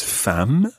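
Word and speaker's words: femme: ma okay so the word for wife is fam now be careful with that one because if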